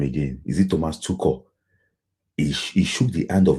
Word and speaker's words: Tuchel: You said Tuchel. It's Thomas Tuchel. That's German pronunciation now, not spiritual.